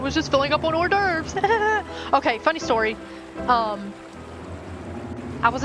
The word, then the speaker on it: hors d'oeuvres: And I'm like, the theater teacher was like, it's hors d'oeuvres, and she kept having to say it because I just could not get it through my head. So I guarantee you, I would have completely butchered this. Obviously, I can say horse. Dueries. That's probably how I would have said it.